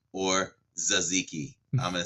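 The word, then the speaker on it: tzatziki: ago uh was it taziki or zaziki I'm gonna say Z zaziki I'm gonna say the t is silent on that so kudos to me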